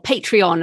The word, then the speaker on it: Patreon: I know I'm asking a lot of what might seem basic questions, but how does it match with Patreon then, or Patreon as Americans say?